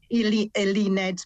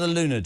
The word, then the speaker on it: Eluned: Eluned Morgan. Eluned, not Eluned.